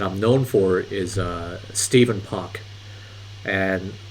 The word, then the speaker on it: Stephen: known for is uh Stephen Park and Steven is actually spelled with ph it's not V it's actually Stephen Park uh that's his real name a lot of people confuse Steven with Stefan so I don't want